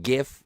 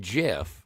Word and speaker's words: GIF: We all understand that it is pronounced GIF, not GIF.